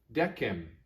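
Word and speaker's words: decem: is no m next dekkem remember the latin letter k does not make a s sound or a chess sound it makes a k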